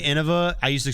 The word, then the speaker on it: Innova: Unironically unironically glad Trevor didn't take it mine is Innova. That's so funny. That's actually I would spell it I would put Innova and then in parentheses pronounced i n o h all caps v a.